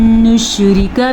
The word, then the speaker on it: نُشْرِكَ: پہ بھی غنہ ہوگا اور نشریکہ میں را کو باریک پڑھنا ہے اور کاف کو زبر کے ساتھ چھوٹی سی زبر ہے اور اس کو لمبا نہیں کرنا, چھوٹی سی مقدار ہوتی ہے اس کی.